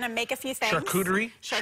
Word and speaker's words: charcuterie: Charcuterie. It's pronounced charcuterie.